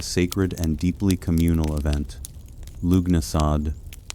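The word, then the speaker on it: Lughnasadh: Lugnasad, pronounced Lunasa, the Celtic festival honoring Lu, the god of light, craftsmanship, and war.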